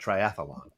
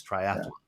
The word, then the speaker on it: triathlon: here's one uh triathlon people always say triathlon triathlon there's not an extra a in there no it's not triathlon it's triathlon okay so john if